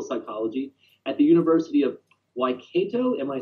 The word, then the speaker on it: Waikato: at the University of Waikato. Am I saying that right? Almost. That's a Maori word from New Zealand. So, University of Waikato is how we pronounce it.